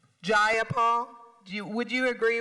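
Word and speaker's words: Jayapal: you agree with Miss ja Paul that there was no takeover was just if you're going to say my name please say it right it's jaul jaul do you would you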